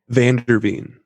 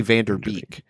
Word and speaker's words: VanderVeen: VanderVeen. VanderVeen. I keep wanting to say Vanderbeek, and that's just programmed into me through Hollywood.